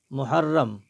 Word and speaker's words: محرم: پھر ہجے پڑھیں گے۔ محرم، اور یہاں ان مہینوں کو چونکہ عربی مہینے کہا جاتا ہے، لہٰذا ان کو ہم عربی طریقے سے ہی پڑھیں گے۔ محرم، میم پیش مو،